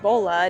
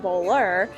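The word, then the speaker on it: bolle: It is the hazelnut praline bolla, pronounced bolla, not bowler, because we found out that one of these is a bolla and multiple is bowler.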